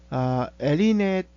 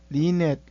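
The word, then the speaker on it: LeNet: 그 다음에 이제 리넷, 레넷, 발음은 되게 외래어라서 이것도 완벽한 영어가 아니고 합성어다 보니까 사람들이 다르게 읽습니다만은 우리는 여기서 엘리넷 또는 레넷 이렇게 읽어보겠습니다.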